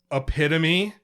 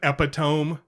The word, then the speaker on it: epitome: Epitome instead of epitome is a big one.